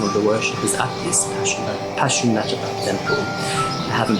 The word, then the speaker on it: Pashupatinath: to observe some of the worshippers at this Pashupatinath Temple. I haven't pronounced that correctly at all, but let's go find a taxi. Say the name of the temple. Yeah. The temple. What's the name? Pashupatinath. Pashupatinath.